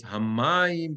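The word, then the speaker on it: הַמָּיִם: And it's hamayim because the meteg is under the mem.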